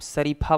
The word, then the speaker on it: श: तो यदि आपको तालव्य विषय का उच्चारण करना है तो जीभ को तालु से आप सटाइए। कैसे सटाएंगे? जैसे च बोलते हैं, च, पहले च बोलिए फिर श बोलिए।